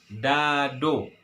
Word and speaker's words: dado: Cuman huruf vokal yang bagian terakhir kita ganti O. Bacanya dado. Ini dia teman-teman.